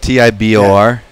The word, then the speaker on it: Tibor: Or- Tebow? Yeah. Tebow. It's spelled Tibor. It's like Tibor. And Tibor, yeah.